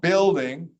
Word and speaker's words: building: We don't say the U at all. Building.